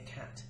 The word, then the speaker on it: cat: bath a cat however because it's got three letters that will always be a cat with a short a and you will have